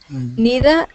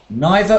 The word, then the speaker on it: neither: Neither or neither. There's two ways of saying that.